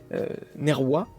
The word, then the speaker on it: Nerva: Moi, Nerva Julius Caluades, alors, prononciation latine, Nerwa, Julius Caluades, parce que pour tous ceux...